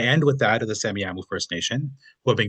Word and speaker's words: Semiahmoo: He's an archaeologist with the, I'm not too sure if I'm pronouncing this one correctly, is it Semiahmoo? Yeah, The that's right. Semiahmoo First Nation.